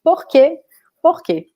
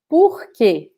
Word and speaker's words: porque: So P followed by Q can be an abbreviation for both, because actually they are pronounced the same. There's no difference between them. We say porque, right? Or porque also, porque.